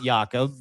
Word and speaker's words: Jakob: It is by Jacob Kaarsbo, Jacob Jakob is how you say his name in Denmark. Jakob Kaarsbo k a a r s b o.